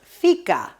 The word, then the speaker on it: fika: all about fika fika the swedish pronunciation is fika is a concept in